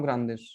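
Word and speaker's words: grandes: अशकाजा साउ ग्रांदिश, ठीक है। तो यहाँ पे डी ग्रांद किस में बदलेगा? ग्रांदिश में।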